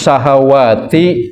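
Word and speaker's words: شهوات: Tapi kalau di depan waw tidak ada alif, syahwat langsung. Jadi bentuk tunggal. Tapi kalau ada alif di depan waw, syahawat. Ini jangan ketukar cara membacanya.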